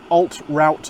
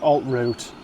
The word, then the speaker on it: Alt Route: going to all american alt-route meals we all know it should be pronounced alt-root but it's an american company and it is alt route now this is southern